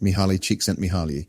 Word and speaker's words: Mihaly Csikszentmihalyi: The term flow was coined by a psychologist with a name so fancy I need a pronunciation guide just to say it. Mihaly Csikszentmihalyi.